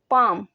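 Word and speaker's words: palm: है इसे इंग्लिश में पाम कहते हैं पाम इसका एल जो है यह साइलेंट हो जाएगा उंगली उंगली को इंग्लिश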